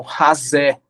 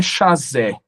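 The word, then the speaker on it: חזה: Uma tradução hebraica disso traduz a expressão vendo como razé, não é chazé. Essa pronúncia em hebraico é fricativa, ela é razé.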